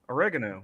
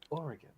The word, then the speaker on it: Oregon: Washington State and Oregon oregano no no how to pronounce it again correctly that not Oregon it's not two sentences it's three it's three syllables Oregon Oregon it's Oregon yeah you're saying it the